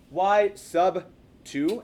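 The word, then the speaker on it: y₂: This is actually pronounced y sub 2, as in submarine, minus y sub 1.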